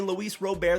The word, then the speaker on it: Luis Robert: They are releasing the top 100 players in baseball, and I see the top 50, Luis Robert, aka Luis Robert, that's actually how you say it, at the 50 spot, and then you have Starling Marte over guys like Bryan Reynolds and Tyler O'Neill.